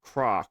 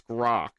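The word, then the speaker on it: Grok: He'd be like, "My name's not Croc. It's Groc." Does he say it like that through gritted teeth?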